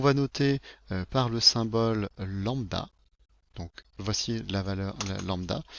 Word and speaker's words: lambda: la couleur, qu'on va noter par le symbole lambda. Donc voici la valeur lambda. Si vous ne savez pas comment ça se prononce, je vais vous le marquer ici.